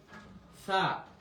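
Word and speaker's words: ث: দেখেন এটার উচ্চারণ হচ্ছে সা, জিহ্বার আগা থেকে। সা, সা, একদম পাতলা করে।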